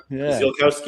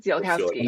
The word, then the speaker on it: Ziolkowski: Zilowski is how I pronounce it. Zilkowski. Zilowski.